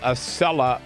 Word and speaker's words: Acela: big blowout by Donald Trump in the so-called Acela primary. That's how you pronounce it.